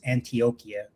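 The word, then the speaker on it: Antioquia: Um so real quick, the word you guys were trying to pronounce is Antiochia. That's how you pronounce it.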